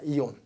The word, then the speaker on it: aeon: 이온. AEON인데 이온. 발음상은 이온이에요. 이온이라고 말합니다.